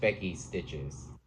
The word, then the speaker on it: Becky Stitches: This is done on an 18 count lemon lime smoothie by, I pronounced it weird last time. It's just Becky Stitches.